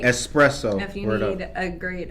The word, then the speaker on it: espresso: let me get that espresso.